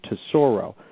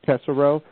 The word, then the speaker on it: Tesoro: is a little bit more complicated, but it's pronounced to Sorro, but still people still can't pronounce T S O. Yeah. A lot of people introduced me as Tessero.